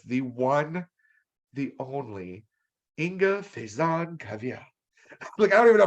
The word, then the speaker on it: Faison-Cavitt: Faison-Cavitt. Well, you can say Have it. Faison. Okay, so the T's are pronounced.